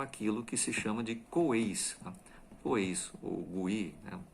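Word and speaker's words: 鬼: E se transforma aquilo que se chama de Coeis, né? Coeis, ou Gui, né? Se escreve Gui, mas na realidade a pronúncia é Coei.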